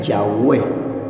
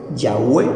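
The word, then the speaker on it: Yahweh: cuatro consonantes o sea el tetragrama que se pronuncia yahwe yahwe se pronuncia las cuatro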